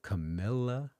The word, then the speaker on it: Camila: Camela. You got to get her name right. I'm sorry. I apologize. But Camila, here you go. Say it with me. Not Carr. Camila.